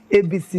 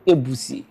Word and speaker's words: Ebisi: ka m anụbeghị mbụ Ebisi ndị Mbalaba Ebisi. Gị nwe Ebisi gwa gị bụ Mbalaba Ebisi. Anyị na-akpọ ya Ebisi mana jiri pronunciation wụ Ebusi. That means ebu n'ọnụ.